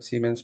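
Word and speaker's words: Siemens: I've seen something like semens.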